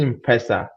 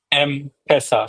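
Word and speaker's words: M-Pesa: Is it in pesa or m pesa? M pesa. So m mobile money pesa money. So m pesa.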